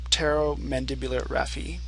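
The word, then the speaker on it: pterygomandibular raphe: to something called the Tero mandibular Rafi the tular Rafi is spelled kind of funny it's start it has a p in the front but it in like in pterodactyl the p is silent in addition to the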